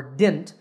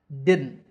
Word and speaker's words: didn't: word from my students if you say didn't or dint they're both wrong to say this word correctly say did first did then add a nut sound at the end didn't using your nose didn't and that's it now